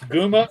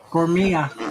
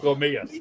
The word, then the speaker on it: Gourmia: Is that pronounced Guma or Huma? Gourmia. Gomia. Got it.